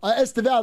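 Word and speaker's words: Estêvão: Esteval, that's how you say his name.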